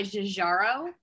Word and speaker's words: Giugiaro: It's definitely so this tire is like designed by Jajaro. And you're like, okay. She pronounced it correctly. Yeah, Giorgetto Giugiaro.